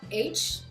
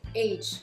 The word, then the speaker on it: age: Ne dites pas H, dites age. Pourquoi? What's the difference between age and H? Because si vous dites age, like J sound, c'est l'âge. Si vous dites H, c'est la lettre H en anglais.